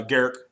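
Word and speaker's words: Garruk: Uh, Garrick. Yeah, because way not groo. Gar. Yeah. Every time I hear garuk, I want to go gar is on fire.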